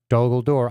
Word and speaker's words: Dol Guldur: In fact, if I did this instead, when the Guldur, I said it wrong, Dol Guldur, I always flip-flop it.